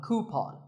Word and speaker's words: coupon: one of these a coupon a common incorrect pronunciation is coup C but the second syllable should be Pawn so coupon here's word number 16 how